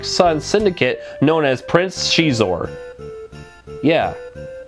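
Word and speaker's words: Xizor: the evil black son's syndicate known as Prince cheese or yeah it's pronounced cheese or who knew right the game has a variety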